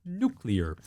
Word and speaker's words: nuclear: went absolutely nuclear nuclear it's pronounced nuclear 32 points on 12